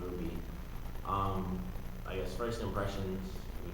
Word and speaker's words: RWBY: It's actually pronounced Ruby.